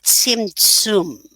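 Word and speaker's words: Tzimtzum: cosmos was created through a process known as simsum it's pronounced starting with the letter saudi basically in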